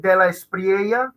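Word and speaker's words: De La Espriella: to first of all if you're going to pronounce it yeah exactly tell us oh yeah so my name is de la spriega it's a very common name in south america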